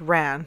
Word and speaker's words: Wren: For me, the strangest by far are the Wren boys, sometimes pronounced Ran, but with my accent, who knows?